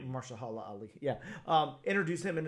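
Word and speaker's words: Mahershala Ali: uh how do you say that actor's name marala Ali Marsha Hala Ali yeah um introduce him in in a midnight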